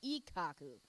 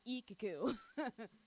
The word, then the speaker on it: Ikkaku: just did with me like it's ikkaku not iike ku again there's different like